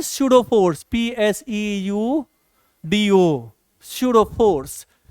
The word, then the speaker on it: pseudo: इसको हम बोलते हैं स्यूडो force, PSEUDO, स्यूडो force, है ना। देखो ना यहाँ पी साइलेंट हो जाता है, स्यूडो फोर्स।